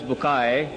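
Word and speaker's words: Bucaille: of quran dr maurice bukhail pronounced as maurice bukai am i right doctor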